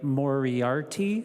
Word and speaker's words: Moriarty: And thanks again to Mary Moriarty, is how you pronounce her name, for her work on this.